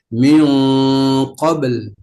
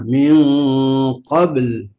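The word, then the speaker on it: مِنْ قَبْل: Sukun yang asli atau lazimah adalah ba, kemudian sukun aridoh yaitu lam, maka dibacanya min qabl. Harus ada jangan qabl. Nah, kalau qabl itu tadi kurang kedengaran lamnya. Min qabl.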